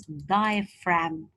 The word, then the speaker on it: diaphragm: is something known as diaphragm remember that the G is silent and the pH is